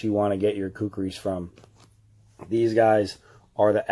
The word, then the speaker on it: Khukuri: places you can buy cookies online but this is where you need to go right here see how they spell it k hu k u RI this is cookie house when you get on